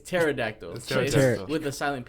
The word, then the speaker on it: pterodactyl: about the Pete yeah that's actually spelled with the PT yeah and that's why it's called pronounced Petare adaptable yeah yeah but pterodactyl okay stupid wait is it pterodactyl it's pterodactyl all I'm thinking [ __